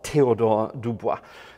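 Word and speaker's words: Théodore Dubois: major to charter by Theodore Dubois or Theodore Dubois to give him his proper pronunciation and it's a very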